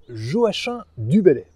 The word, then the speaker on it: Joachim du Bellay: Et oui, on prononce bien Joachim du Bellay.